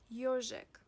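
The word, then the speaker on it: ёжик: For example, the word ежик. Listen. Ежик, ежик, ежик, ежик. The stress falls on yo, ежик.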